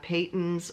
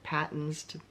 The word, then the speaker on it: Patons: They also have Paytons or Patons, depending on how you pronounce it.